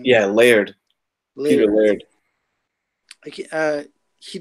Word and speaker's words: Laird: And to get Eastman and like I looked up Lillard's. I can't even say his name. Yeah, Laird.